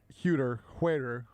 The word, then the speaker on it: Huerter: I don't think Kevin Huerter. I remember that because somebody tweeted they don't call him Kevin Helper. That is how I remember how to pronounce his name accurately.